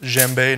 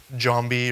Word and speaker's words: djembe: So Djembe, pronounced Djembe, not Djambi or Djambe, or I've heard everything.